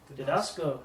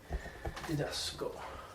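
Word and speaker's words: διδάσκω: Didasco, nice. Means I teach. Think of the word didactic. Your didactic method. Didasco.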